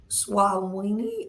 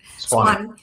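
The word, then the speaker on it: Suwanee: A lifelong Georgia resident, originally from Clarkston and now in Swawini. I pronounced it wrong. Swanee.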